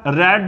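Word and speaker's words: read: V2 V3 जो है, पर इनका उच्चारण जो है वो अलग होता है। इसका रेड रेड ऐसे बाद में इसका उच्चारण बदल जाता है, यहां पे इसको रीड बोल रहे हैं, रेड रेड ऐसे हो जाता है।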